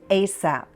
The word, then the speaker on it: ASAP: Many say ASAP. You can also say the letters as a P as soon as possible.